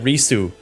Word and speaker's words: Risu: I think you say it Risu, and I think that 3 is supposed to be like kind of like a special character or something like that.